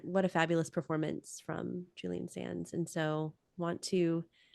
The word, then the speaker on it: Sands: by Julian Sans and I think it's pronounced Sans not s s yeah I've always heard Sans Sans Julian Sans and he's